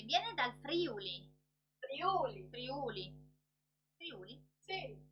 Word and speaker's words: Friuli: Friuli? Sì. Friuli Venezia Giulia. Tanti dicono Friuli, ma è un po' sbagliato perché l'accento è Friuli, con la U lunga.